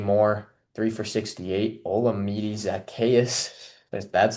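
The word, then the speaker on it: Zaccheaus: Oli Zakayas, that's how you pronounce his name.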